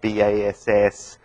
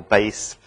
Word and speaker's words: bass: So for a word like BASS, it can be pronounced either bass or base with different meanings.